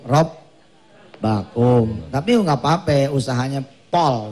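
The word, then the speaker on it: رَبَّكُمْ: Takfiru, bukan rabbukum, rob bakum.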